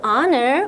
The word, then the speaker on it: honor: To honor or respect A as a god이라고 되어 있네요. honor 여기 H는 발음이 나지 않아요?